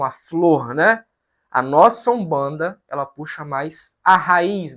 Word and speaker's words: Umbanda: escreve daqui para cá esse U é um acréscimo que nós fazemos por conta da pronúncia é uma pronúncia meio fechada que os bos falava que era uma pronúncia que às vezes os portugueses entendiam como um ou como em banda Então são dois nomes